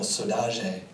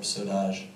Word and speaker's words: saudade: And she has this beautiful song, the title Saudade, is how it's pronounced in Cabo Verdean, or Saudade.